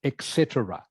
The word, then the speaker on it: etc: in its short version which is this e t c but for this one you do actually say Etc so I hope that